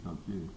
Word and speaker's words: Peltier: Yeah, well, it should be Peltier. Ah. There are lots of American Indians out in that part of the north, central, west, who have whose names come down from French Canadian trappers and people who were